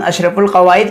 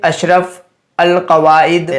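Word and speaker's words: اشرف القواعد: तो आप यहाँ पर क्या पढ़ते हैं, यहाँ पर आप पढ़ते अशरफ अल कवाइद। आप इसको कभी भी अशरफुल कवाइद नहीं पढ़ते जब तक कि आपको यह कायदा मालूम ना हो जाए।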